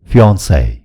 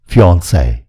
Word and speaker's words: fiancé: fiancé. यी दुई शब्दको उच्चारण उही हो, fiancé.